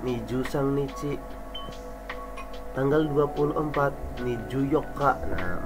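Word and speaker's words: 二十四日: sang niici tanggal 24 niju Yoka nah empatnya itu menggunakan tanggal 4 yang spesial di atas Terus dikasih 20 miju 24nya tanggal ya tanggal 4 Yoka makanya miju Yoka spesial tanggal 25 tanggal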